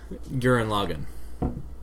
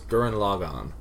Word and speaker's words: Gurren Lagann: Based on how they say it in the show, it's Gurren Lagann.